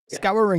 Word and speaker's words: Scouring: Scouring.